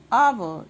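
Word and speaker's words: hour: आवर यहाँ पे भी एस साइलेंट है.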